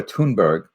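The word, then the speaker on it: Thunberg: and to ridicule Greta tun Berg the H is silent in Sweden a 16th she's now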